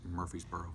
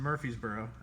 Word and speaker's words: Murfreesboro: It's pronounced Murfreesboro. Okay. So Austin from Murfreesboro.